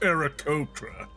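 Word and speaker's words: Aarakocra: yeah that one that excuse me miss it's pronounced ericotra listen um i don't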